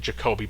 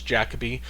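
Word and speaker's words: Jacobi: Um I believe I believe it's pronounced I first I was saying Jacobe, but I think it's Jacabe. That's at least how I heard Jesse Buckley pronounce uh pronouncing it.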